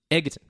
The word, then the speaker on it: Egerton: I thought Egerton.